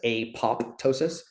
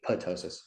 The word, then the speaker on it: apoptosis: about earlier is apotosis it's spelled apop Tois so you read it and you say it looks like it says apoptosis but it's actually apotosis and apotosis is basically